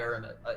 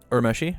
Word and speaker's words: Urameshi: I'm not playing Urameshi, and I really want to play Urameshi. Is that how you pronounce it? Urmeshi? Yeah. Yeah. Okay, Yeah. I was saying it right.